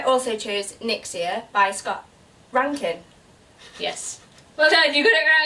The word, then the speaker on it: Reintgen: It's okay, I only know that it's actually pronounced that way because he's just written it on his website, so... Otherwise I'd be there like, Reintgen?